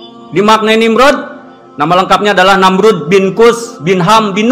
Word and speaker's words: Namrud: Ejaan yang benar itu adalah Namrud, pakai D. Ada sebagian yang nulis pakai Z, ada yang DZ. Bahasa Latin penyebutannya dengan Nimrod.